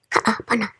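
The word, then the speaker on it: Kaʻapana: By the way, are you wondering how to pronounce those 2 A's in a row? Well, think someone flubs up, so they say, uh-oh, ka-a-pana.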